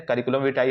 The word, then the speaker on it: curriculum vitae: कहते हैं सर्कुल भी यहां पे मेन इसका जो प्रोनाउंस है करिकुलम विटाई है ठीक है य सीवी